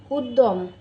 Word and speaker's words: উদ্যম: ব্যতীত ব্যতীত ব্যথা ব্যথা শব্দের মাঝখানে বা শেষে জ ফলা বর্ণের সঙ্গে যুক্ত থাকলে ওই বর্ণের উচ্চারণ দীপ্ত হয় যেমন উদ্যম উদ্যম গদ্য গদ্য কিন্তু শব্দের মধ্যে